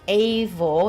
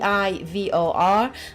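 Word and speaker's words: Eivor: do know that the main character is called a vol it's actually pronounced i eivol so ii i vor and it can be but you can play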